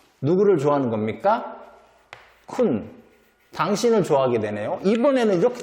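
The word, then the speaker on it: คุณ: 그래서 발음은 쿤, 당신, 첩, 좋아하다, 매우, 고양이.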